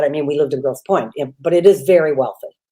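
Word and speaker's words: Grosse Pointe: a place that called Gross Point sounds absolutely fantastic for those of you who are listening out there you know a rich area when they have a word in it with a silent E it's just the requirement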